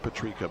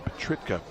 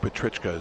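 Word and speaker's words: Petricka: Not Petrika, Petritka. Petrichka. Jake Petrichka is how it's pronounced.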